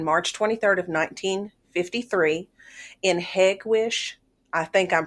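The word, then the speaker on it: Hegewisch: information is Place locations it is pronounced hegwish by the locals it's one of 77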